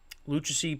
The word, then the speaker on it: Lucchesi: Lucchesi picked up the win. That's how you pronounce it.